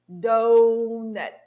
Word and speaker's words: doughnut: word like donut donut doughnut donut dough will be strong that will be really really unstressed doughnut seafood seafood you